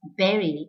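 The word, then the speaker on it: bury: you might find it strange but the correct pronunciation of the word b-u-r-y is berry and not body it's very right so the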